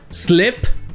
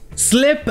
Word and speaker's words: slip: Comme par exemple les deux verbes, slep et sleep. Slep avec un I, ça veut dire glisser.